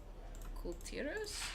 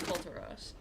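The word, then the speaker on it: Kul Tiras: Unless you put the apostrophe in the wrong place, there's no fucking way that should be pronounced Kulturos. Because there's an apostrophe between the L and the T.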